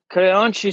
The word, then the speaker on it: Creonte: I'm awful with the pronunciation. Creonte, yes.